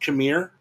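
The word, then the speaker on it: Qimir: She does, and she's got is it pronounced Khmer with her?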